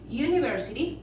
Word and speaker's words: university: Entonces, en este caso decimos university. Para este university, vamos a clasificarlo dentro de la A. Cuando comience una palabra por U, pero se pronuncia como you, entonces vamos a clasificarlo dentro de la A, ¿sí?